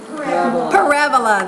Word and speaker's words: parabola: called a I'll be like Father Joseph it rhymes with araba Parabola there you go you shaped curves called parabas